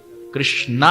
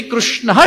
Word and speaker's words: कृष्ण: तो छूट है लेकिन मूल में अब हम श्री कृष्ण शरणम मम बोलेंगे श्री कृष्णा शरणम मम श्री कृष्ण शरणम कृ सही है कृष्ण कृष्ण ऋषि ऋषि रुचि ऋचि श्रुति श्रुति तो री और रु ये दोनों सही है लेकिन अधिकांश कृष्ण ये ज्यादा सही है और ये बोलना ना